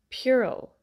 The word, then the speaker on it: puerile: Puerile. Puerile.